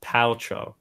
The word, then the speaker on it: Paltrow: Pet Pals Rotem petroleum Gwyneth Paltrow oh it's Paltrow so there you go everybody if you've watched